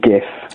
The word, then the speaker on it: GIF: I still think it's Nestle and uh um Nugal, but no, I think GIF, it's only the J the G is only a J sound when it's Jeff with an E.